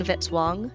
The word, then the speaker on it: Vitz-Wong: Music by Kevin Vitzwang rhymes with hit song.